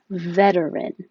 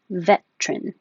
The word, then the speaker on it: veteran: of pressure this one you have options for three syllables veteran or two syllables veteran you could also keep